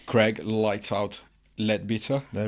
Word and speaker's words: Leadbeater: Hey, look, you're Italian and I got mates that can't even say my name properly. Okay, that's perfect then. They always say lead better.